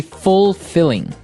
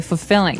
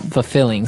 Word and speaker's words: fulfilling: pronunciation you don't say fulfilling no you say fulfilling fulfilling so the L there is kind of Silent kind of optional but um maybe you